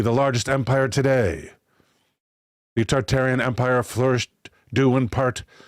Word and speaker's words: Tartaria: Tartaria, originally pronounced Tartaria, without the first R, is the name of the pre-Mongolian Empire, that originated in northern Asia, before spanning the entire northern hemisphere.